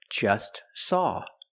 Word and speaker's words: just: Or just saw. We see the T is between consonants, so don't pronounce it. It's silent. Just saw. You link the S with the S.